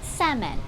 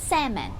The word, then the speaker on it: salmon: อ่าน แบบ นี้ ค่ะ sandman หรือ แซม แอน จะ เห็น ว่า นะ คะ ไม่ มี ตัว L อยู่ ใน อ๋อ การ ออก เสียง นั้น เลย นะ คะ อีก คำ